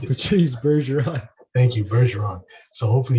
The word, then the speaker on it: Bergeron: I can't pronounce it. Patrice Bergeron.